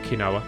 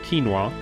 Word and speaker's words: quinoa: beer mmm tasty vegetable kanawa quinoa quinoa not kanawa quinoa I remember seeing a